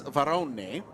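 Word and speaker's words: Varrone: Aston Martin now shown on top with Nicholas varonne which is how you have to pronounce it he told John kind off in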